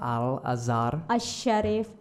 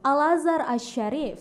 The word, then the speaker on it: Al-Azhar Asy-Syarif: Al-Azhar Al-Azhar Asy-Syarif. Asy-Syarif. Oh, you pronounce good. Thank And you. then make it faster. Al-Azhar Asy-Syarif.